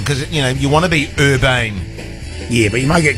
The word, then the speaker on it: Urban: We've got Karl Urban. Is that how you say it? Or Urbane. Urban. I think it's definitely not Urbane.